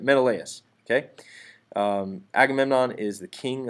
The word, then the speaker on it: Menelaus: brothers agamemnon and menelaus or will say Menelaus meant allowances sort of a weird pronunciation sometimes but Menelaus okay Agamemnon is the